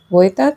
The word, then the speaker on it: Vojta: In this video, we will be learning about voter therapy. By the way, the correct pronunciation is Vita therapy.